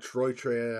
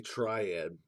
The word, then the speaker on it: Triad: correct name it's not Troy Trey and it's not Troy just say triad I do apologize for